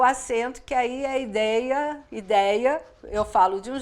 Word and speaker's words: ideia: as pessoas mais expansivas nós falamos com esse som aberto mas em Portugal e em outros países de língua portuguesa a pronúncia ideia é fechada e não é aberta então para unir ficar